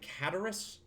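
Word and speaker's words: Cataris: is here in tavares you pronounce it catarrus like cataracts samus your currency cannot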